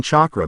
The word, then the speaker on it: chakra: That's what chakra looks like, Tomoki asked in disbelief. Well, if you pronounce it. It does sound like you say the word chalk and raw as in the Egyptian sun god, Sugata explained.